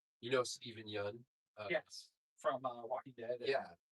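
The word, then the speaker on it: Yeun: That's like you know Stephen Yun? Yes. From Walking Dead. Yeah. People would pronounce his name you all the time.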